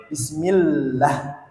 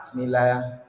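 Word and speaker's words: بسم الله: huruf ada tas tasdid jadi bacanya wajib bismillah tidak boleh langsung datar rata bismillah bismillah Monggo jenengan dicoba dulu bismillah bismillah tasdid ditahan 2 detik bismillah bismillah Monggo kemudian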